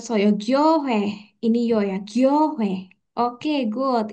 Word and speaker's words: 교회: Ini huruf G. Bawahnya ini huruf yo, jadi gyo. Terus ini huruf H. Dan kita punya OI, tapi bacanya W ya. 왜, Sam tulisnya gini aja W. Oke, jadinya gyohe.